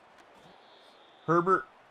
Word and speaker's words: Herbert: Herbert, of course, rhymes with sherbet.